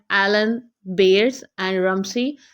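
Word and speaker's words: Rumsey: उसके बाद third character हमारा है रमसी। इसको रमजी भी आप प्रोनाउंस कर सकते हैं एंड रमसी भी कर सकते हैं, डिपेंड करता है आपकी प्रोनाउंसिएशन पे।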